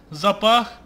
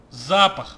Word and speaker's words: запах: Запах. Запах привлекает слишком много зверей. Мы даже запах, блять. Ударение неправильно ставил, блин.